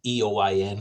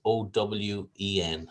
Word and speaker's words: Eoin: it's it's it's it's eoin so i'm not sure how well you would you would pronounce that in egypt but it's pronounced as o w e n so owen is